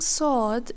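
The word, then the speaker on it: صاد: When saying Saad, the tongue rises slightly and the sound becomes fuller and deeper. Your mouth feels more filled compared to the light sound of Sin.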